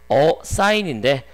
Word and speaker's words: assign: 발음 때문에 어사인인데 발음을 쉽게 하려고 assign 이렇게 s를 두 개를 붙여줘서 돼 있을 뿐인 거죠.